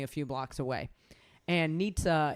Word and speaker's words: Nizza: few blocks away and nietzsche is spelled nizza so like white dudes would come up and be like man we love the food here at nizza like but it was like it's nietzsche it's supposed to be like the